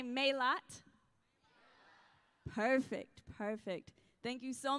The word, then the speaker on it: Mélat: So could y'all do me a favor and say Mélat?